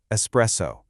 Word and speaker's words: espresso: I want you to listen super closely to this word, espresso. A super common mistake is to put an X sound in there and say espresso.